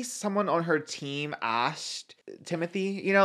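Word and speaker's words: Timothée: angles of these three talking there would be Timothy and Selena you know yeah I think it's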